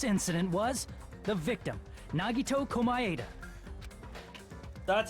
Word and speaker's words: Komaeda: The person who actually arranged this incident was the victim, Nagito Komaeda.